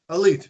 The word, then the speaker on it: Alite: Let's talk about John for a second, John Alite. Uh-huh. And by the way, is his name pronounced Alite or Elite? Because we've always been saying Elite. Elite, that's right.